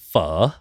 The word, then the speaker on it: pho: It's pronounced pho. Pho. Pho. Yeah. No, you say it like that. Yeah. Interesting. Yeah, like above the O is the upper half of a question mark.